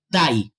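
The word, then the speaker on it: Taï: es el parque nacional taii se escribe t a i el parque nacional tha es una selva primigenia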